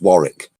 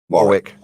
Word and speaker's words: Warwick: again but it is Warwick University oh it is Warren right yeah did I say were Warwick all week hold on a second it's spelled w AR w IC K Warwick it's really cute the way you